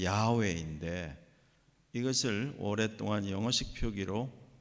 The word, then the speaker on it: 야훼: 그래서 The Lord라고 되어 있는 말에 이 말의 히브리식 발음은 야훼인데 이것을 오랫동안 영어식 표기로 제호바, 이걸 이제 한국말로 여호와 이렇게 불렀죠.